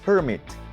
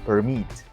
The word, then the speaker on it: permit: It is pronounced with the stress on the first syllable, permit, but the word permit is pronounced with the stress on the second syllable, permit.